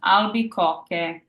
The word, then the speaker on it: albicocche: Okay, so A, L, B, E, C, O, Chi, Chi, H, E. And this is pronounced albicocche, and it means apricots.